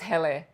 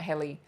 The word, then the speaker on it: Hele: I'm sure it's Hele, not Heli. The reason I know that Hele, or sort of know